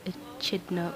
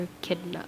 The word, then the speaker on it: echidna: Because last time I said Knuckles the Hedgehog, he's an echidna or echidna. I say both, okay? There are two ways to pronounce it.